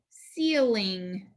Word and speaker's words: ceiling: We have digraph NG. This C is followed by an E, so it actually needs a cedilla. It's going to sound like S. We have a vowel, consonant, vowel pattern with a short I. Eel, ing, ceiling, ceiling. That first syllable is accented.